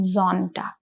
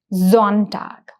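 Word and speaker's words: Sonntag: So it is zamstag and similarly the pronunciation of s o becomes z which is zontag. So it is not s it is z.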